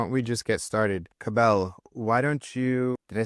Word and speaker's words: Cabell: Cabell rhymes with Scrabble. Cabell.